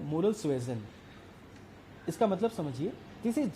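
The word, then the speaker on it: moral suasion: Second, इसका तो pronunciation ही बहुत महंगा पड़ता है बच्चों के ऊपर, कोई मोरल सुएजन कहता है, कोई मोरल सुएसन कहता है। इसका असली प्रोनाउंसिएशन है मोरल सुएजन।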